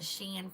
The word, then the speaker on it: Shein: I'm only going to call it Shein from now on because somebody told me that's the correct pronunciation.